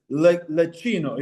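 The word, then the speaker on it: Leccino: It's probably this lecino.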